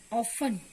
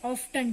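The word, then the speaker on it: often: First जैसे होता है आपके पास ऑफन. इसको स्टूडेंट्स क्या बोलते हैं? ऑफ्टन. टी बोलते हैं. It's wrong. ये सिर्फ क्या है आपका? ऑफन. टी इसमें क्या होगा? साइलेंट. टी क्या होगा आपका? साइलेंट.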